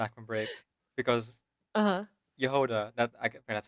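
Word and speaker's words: Jahoda: Yehoda, that's how her name is pronounced in the English.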